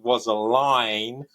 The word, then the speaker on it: Rosaline: He pronounced it Rosaline because of the way that he uses rhyme in the play.